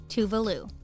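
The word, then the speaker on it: Tove Lo: One thing that's usually missed in the pronunciation of this Swedish pop star's name is the accent on the E, which makes a big difference when thinking of pronouncing her name.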